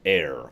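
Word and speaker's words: aer: magic in the game err pronounced air and extremely close to spelled air then there's the second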